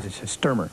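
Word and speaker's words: Stuermer: Sturmer.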